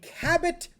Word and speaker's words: Cabot: Isn't it Kebo? Isn't the T silent? I've actually never heard the brain pronounced. Well, then I have been at the Cabot factory saying it wrong. Like, is it Cabo? I have no idea. C-A-B... Yes, that's Cabo.